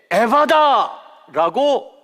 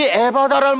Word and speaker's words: 에바다: 그 다음에 성경에는요, 예수님이 그에게 에바다라고 외쳤다고 기록하고 있습니다. 물론 제가 이 발음을 잘 해야 돼요, 그렇죠? 에바다 그러면 안 되잖아. 산부인과 의사도 아니고. 그러니까 이게 영어로 하면 에파타 이렇게 말해야 되는데 한국말로 제가 발음을 좀